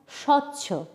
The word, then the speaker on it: স্বচ্ছ: শব্দের আদিতে যদি বফলা থাকে তাহলে সেই বফলার উচ্চারণ হয় না। যেমন স্বচ্ছ, শয় বফলা চয় ছয়।